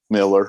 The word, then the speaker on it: Millar: Superman Red Sun, Mark, is it Miller or Millar? How do you say it? Miller.